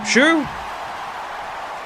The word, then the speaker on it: Xu: Mimi Shu.